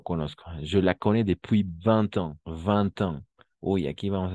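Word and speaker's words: vingt ans: 20 ans. Con la T. 20 ans. Sí, no se ve porque está escrito en numeral, pero al escribirlo y al pronunciarlo, pues ahí vemos que hay la T.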